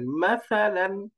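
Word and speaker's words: مَثَلًا: কি হয়ে গেল মাসালা এই যে উচ্চারণটা নরম করে খেয়াল করেন মাসাল মাসা করলে কিন্তু হবে না উচ্চারণটা জিহ্বার আগা উপরের দাঁতের আগার সাথে লাগিয়ে একদম নরম উচ্চারণ মাসাল মাসা মাসা মাসাল এরকম তারপরে হাম্মাহু দাল ফাতাহাতাইন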